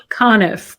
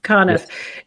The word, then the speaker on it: Conniff: Conniff. Conniff.